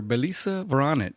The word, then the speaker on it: Belisa Vranich: Belisa Veronic.